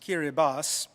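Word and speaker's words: Kiribati: kirati but it the in their own language that spelling is pronounced kiribas and as I was in an airplane taking me to Tarawa the capital of kirbas looking from the window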